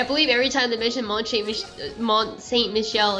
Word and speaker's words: Mont Saint Michel: To Mont Saint Michael. That's a very specific place. Mont Saint Michel. Okay, Michelle then. My bad. Because even Goofy said it right.